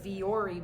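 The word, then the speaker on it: Vuori: wanting to hiking shorts they are the viori brand I think that's how you say it I'm not sure it's spelled v-u-o-r-i um I bought them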